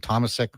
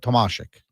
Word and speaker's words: Tomasik: say, uh, you know, some people are saying Thomas. Um, you know, whatever. This is right from Latislav. He says, I asked him, how do you pronounce uh, name? And he said, Tomasik. So it is Tamasik just like you think about it. It's Dominic Hashik. So think about that. It's Tamasik Hashik just like that.